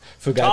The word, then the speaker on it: Fugati: How do you say it? Fugati. I like the Italian pronunciation. Fugati.